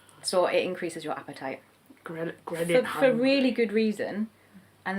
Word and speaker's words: ghrelin: It's called ghrelin.